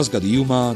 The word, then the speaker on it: Bauska: Az utazásaimban mindig szép természeti helyekbe látogatok, de Bauska (kiejtve: bauszka) nem kínált nagy választást.